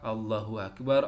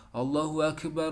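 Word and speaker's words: Allahu Akbar: ya Yang pertama apa Allohuakbar Allohuakbar itu dilantunkan sebanyak dua kali Allohuakbar Allohuakbar Allohuakbar Allohuakbar cara membacanya seperti ini ya Kalau digabungkan Allohuakbar Allohuakbar Allohuakbar Allohuakbar bukan allahuakbar allahuakbar Nah nanti belajar dan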